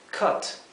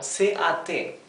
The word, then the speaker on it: cut: Fíjense que cut, la fonética aquí lo he escrito en verde como C-A-T. Cut. Sin embargo, la pronunciación de la U es como si fuera una pronunciación intermedia entre una A y una E, ¿sí? O sea, es cut. No es ni cat ni ket, es intermedio. Cut.